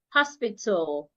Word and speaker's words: hospital: It wouldn't be tal. No, the a that would not be heard. So it becomes t hospital.